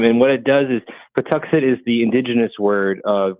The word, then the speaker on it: Patuxet: Plymouth Patuxet Museums. That's the name of our museum. And what it does is Patuxet is the indigenous word of what is now known as the town of Plymouth.